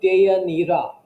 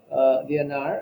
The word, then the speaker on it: Deianira: Here, um, the name is actually Deianira, his wife. Deianira. Deianira. Here it is referred to as Deianir. Deianar as to rhyme with the next word fire.